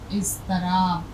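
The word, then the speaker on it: اضطراب: उर्दू में लिखा जाएगा इस तरह से, इज़्तिराब। इज़्तिराब के मानी होते हैं बेचैनी और तड़प के। ये इसका उच्चारण है, सिर्फ ये ध्यान रखिए, सबक, इज़्तिराब।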